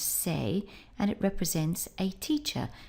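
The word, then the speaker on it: 生: In this case it's used with sen, it's pronounced sei, and it represents a teacher.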